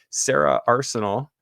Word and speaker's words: Sarah Arsenal: update and we have sarah arsenal am i saying that right yep that that's good all